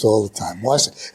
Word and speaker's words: Wasiak: Wasiak. It's a good Polish name.